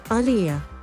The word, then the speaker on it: Aaliyah: correctly say her name aliyah like muhammad ali kilborn again tries saying